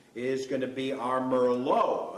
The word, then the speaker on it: merlot: going to be our merlot otherwise known in west texas as murlot they pronounce things a little bit different out there pinot noir instead of